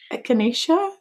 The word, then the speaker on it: echinacea: I don't know how you pronounce that. Echinacea?